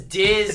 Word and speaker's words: DiZ: Because Diz is like the first syllable of Disney.